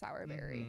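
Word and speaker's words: Sowrberry: SE berries um but don't worry it is pronounced sourberry just in case anybody was in case any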